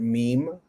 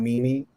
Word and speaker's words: meme: Pronounce it meme, not mimi, like I did at one point in my life.